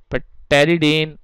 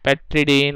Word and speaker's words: pteridine: This compound is called pteridine, or you can say pteridine or pteridine, anything. So generally it is up to you how you pronounce it.